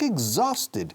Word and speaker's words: exhausted: Ahora, pronunciación. Como huevo. Egg, z, eggs. Y luego sonido de ese zumbido de la Z inglesa. Exhausted. Exhausted, exhausted, exhausted, exhausted.